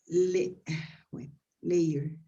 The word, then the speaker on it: layer: Be careful between the pronunciation of this word. This is layer. This is layer. ozone layer. You put the ingredients in layers. Layer. Different from this one that is lawyer. This is lawyer. Okay.